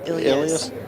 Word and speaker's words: Ilyas: Ilyas told me it's pronounced Ilyas. I know Oh, y'all Ilyas. Midwestern boys and stuff, but let's respect the man. It's Ilyas. 100%.